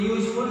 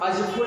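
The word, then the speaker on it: useful: अब आप समझ जाएंगे कि यूजफुल का जो ये यू है ना, इसको हम अजफुल नहीं बोल रहे हैं, यूजफुल बोल रहे हैं।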